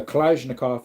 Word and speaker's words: Kalashnikov: A Kalashnikov is how it's pronounced.